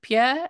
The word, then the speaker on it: Pierre: Degroot you with Butler Pierre and do you pronounce it Pierre and the French word yes indeed I do